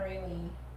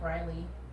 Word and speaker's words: Rayleigh: huh i'm so bad i've been saying your name wrong anna rainey like riley really okay thanks for